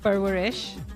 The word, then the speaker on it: Parwarish: Barwarish.